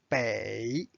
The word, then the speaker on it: 北: to learn is a bay bay bay is a direction means north bay notice it's the third tone now let's study this